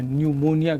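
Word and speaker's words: pneumonia: पास कौन सी है न्यूमोनिया के विषय में हम लोग बात करेंगे ठीक है न्यूमोनिया ओं कि हिंदू मोनिया लिखा जाता है प्लीज साइलेंट होता है पढ़ाया जाता है न्यूमोनिया पढ़ा जाता है इसको न्यूमोनिया पढ़ा जाता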